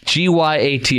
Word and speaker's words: gyat: No, bought, squat, G-Y-A-T. Have you heard of this, producer Garrett? Because you're young. Yeah. Gyat. Okay, there you go. Thank you. It rhymes with squat, so gyat, squat, gyat, bought.